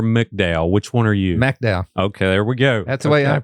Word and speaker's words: McDowell: McDowell. Okay, there we go. That's the way I pronounce it.